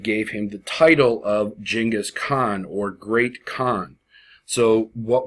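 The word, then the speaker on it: Genghis Khan: see on the screen right here it's actually pronounced jingus Khan and while you will hear genas Khan and see it most often with the G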